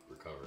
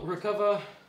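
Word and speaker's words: Recuva: put another hour or so into trying to recover it.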